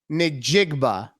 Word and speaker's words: Njigba: Jackson Smith Njigba.